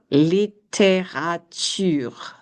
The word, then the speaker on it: littérature: So the first syllable of literature is li, and the second is te, littérature.